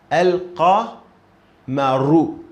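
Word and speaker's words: القمر: fatha, qa, alqa, alqa, alqa, maru, and then mim fatha, ma, and ra dhamma, ru. So al. So we are agreed on this definite tool al here. Lam is pronounced. It's already pronounced.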